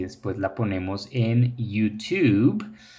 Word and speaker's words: YouTube: La pronunciación de esta aplicación es YouTube. YouTube. Porque la Y en inglés no se dice como la Y de lluvia en español, sino como una I latina.